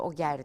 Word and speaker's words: Oger: Fransız Arap ortaklığı Oje Telekom'a satılmıştı. Oger diye telaffuz ediyor bazıları.